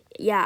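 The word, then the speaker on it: Е: like fix it like yeah good as new this next letter this next letter may look like an actual e but it actually is not a e it's pronounced yeah and due to this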